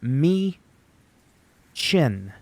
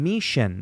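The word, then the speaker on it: Michin: lot see chin okay it's me chin I kept saying me Shin it's not her Shin I'm it's how I make the association so I remember how to properly pronunciate the name me chin not mein that's literally what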